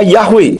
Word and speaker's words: Yahweh: akhir Tidak kedengaran jadi Yod he ww he itu jika dibaca bunyinya yahwe dengan huruf he di belakang tidak kedengaran semua huruf Ibrani memang